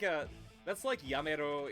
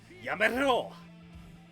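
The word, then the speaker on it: やめろ: That's like Yamero if you want to roll your R on it. It's like, Yamero!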